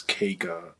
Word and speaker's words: kqa: I also forgot to mention the work I did with Quirby64, also known as Kega, that's spelled KQA.